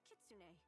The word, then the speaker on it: kitsune: I am a kitsune. Apparently it's pronounced Kitsune.